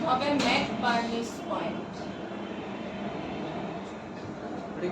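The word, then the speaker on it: McBurney: কি হবে আসসালামু আলাইকুম NC furnish point Mac varnish point উচ্চারণ হবে ম্যাক বার্নিশ পয়েন্ট এটা কি এট দা ফাংশন জাংশন اللہ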